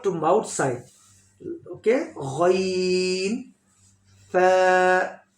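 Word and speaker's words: فاء: Next letter wo also heavy sound letter, fat sound. Wo is pronounced by full mouth.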